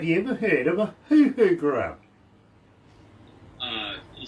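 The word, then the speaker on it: huhu: lifted, but have you ever heard of a hoo-hoo grub? Can you say that one more time? Hoo-hoo grub. It's spelled H-U-H-U, grub.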